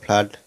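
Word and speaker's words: flood: ঠিক আছে, এই তারপরে এখানে দেখো ফ্লাড, এখানেও দেখো দুটি ও পাশাপাশি বসে আ উচ্চারণ হচ্ছে, তাহলে কোথায় কোথায় হলো ব্লাড, ফ্লাড।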